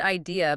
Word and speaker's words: I'd: So if I had becomes if I if I' listen to that. It sounds like the word idea but without the e at the end.